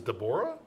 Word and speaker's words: Debra: is Xena's over yeah I always thought my name Debra's spelled that way was like de Bora which is how you probably pronounced her today my name is de Bora hey see that's that's